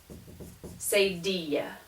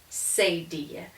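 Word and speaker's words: cedilla: those sounds um and this is called a say dia like tortilla this is a seidia and the purpose of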